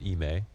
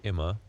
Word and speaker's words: iM: Okay, so Ime told us that you pronounce it Ime. And I think before he told you Imma.